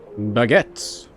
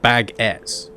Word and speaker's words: baguette: well stocked on pickles baguettes those are some beautiful bagett I really don't understand why Americans pronounce it as bagett it's baguettes uh investigate the cheese